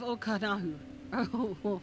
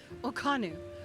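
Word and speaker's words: Ok'hanu: Keito is southwest of Okanahu. I said that wrong. Okanu. Okhanu.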